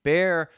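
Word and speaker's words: Bexar: these are uh two orders from court in Bear County you see I remember how to pronounce it's it's spelled b x a r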